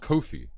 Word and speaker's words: Kofi: Stop saying coffee. It's pronounced Kofi. That's like the wrestler.